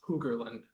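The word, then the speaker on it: Hogerland: Huggerland. Do you want to spell it?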